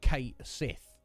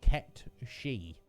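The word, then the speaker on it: Cait Sith: uh uh kate sith i always thought that was correct correct pronunciation no apparently it's uh it's gaelic uh according to metapod who i trust uh and the correct pronunciation of that word is kept she my god uh so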